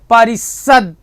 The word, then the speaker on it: परिषद: चाहिए अब जैसे देखो कुछ ध्वनियों का उच्चारण करके देखो जिसमें आ का उच्चारण ही नहीं होगा परिषद देखो उच्चारण करो जरा परिषद परिषद परिषद देखो जीवा तुरंत रुक जा परिषद परिषद संसद संसद उसम देखो संसद लेकिन परिषद परिषद इसमें मुख नहीं खुलर है बच्चे वहां खुल